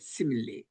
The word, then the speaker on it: simile: 영어로는 simile라고 발음하는데 simile.